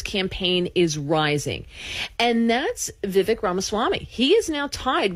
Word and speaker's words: Vivek: Well, first of all, he says that his name is pronounced Vivek. Vivek. Like okay, thank cake. You. Cake. He says it like cake. It's Vivek. Okay.